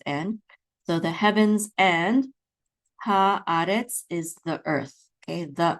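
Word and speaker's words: הָאָרֶץ: So the accent is on ah. So it's haaretz, haaretz, not haaretz at the last syllable, which would be the default, but it's in the second syllable, haaretz, okay?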